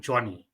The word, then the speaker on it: Jonni: So am I pronouncing this right? Straightforward Johnny. Johnny, yes, Johnny, it's correct.